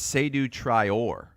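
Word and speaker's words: Seydou Traore: pronunciation well done and I think it's sidu trior I think the emphasis is on the or or yes seu trior they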